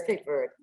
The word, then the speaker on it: Cape Verde: Whether you pronounce it Cape Verde or Cape Verde, Oh, Cape Verde, Cape Verde, it's Cape Verde. because in Creole, you leave off the last vowel, right?